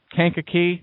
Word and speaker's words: Kankakee: Kankakee. That's how it's pronounced.